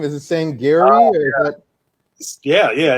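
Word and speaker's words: Sangerye: have asked this off air how do you pronounce the family's name is it saying gary yeah yeah it's a sangria it's uh it's like a creole it sounds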